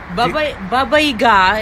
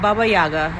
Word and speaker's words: Baba Yaga: Baba Yaga is how you pronounce it, not Baba Yaga.